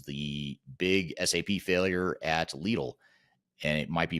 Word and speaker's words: Lidl: It was a little or is it Lidl. I think in Germany they say Lidl, but in other parts of the world they say Lidl, from what I understand.